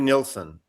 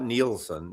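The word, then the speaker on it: Nilsson: Harry Nilson, it's like two syllables. Not Neielson. Nilson.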